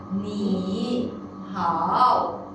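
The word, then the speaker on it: 你好: In the actual situation, we will not pronounce as a ni, hao. Okay? Because this is very difficult to pronounce. We will turn the first character to tone number 2.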